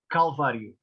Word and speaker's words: Calvário: Calvário.